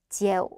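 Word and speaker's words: triệu: 100만이라는 단어는 지에오, 이게 100만이거든요.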